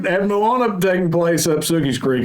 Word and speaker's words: Moana: Just think about how everybody mispronounced Moana whenever it came out. Mona, Envy. Not Mona. Had Moana taking place up Sookie's Creek, it would have been Mona.